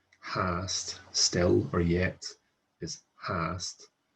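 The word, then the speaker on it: fhathast: of the three main exceptions where FH is pronounced with an H sound. So FH is almost always silent, with the exceptions being hast, hwyr, and hein. So mi hein, FH is an H. Hast, still or yet, is hast with an H,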